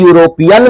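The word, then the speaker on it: European: देख रहे हैं कि यूरोपियन में यूरोपियन में कि इसका जब उच्चारण आप करोगे प्रोनंसिएशन करोगे तो या इसका पहला साउंड क्या होगा या होगा तो या किस में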